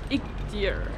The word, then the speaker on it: Iğdır: I am currently in Iğdır, or as the locals say: "Iğdır, Iğdır."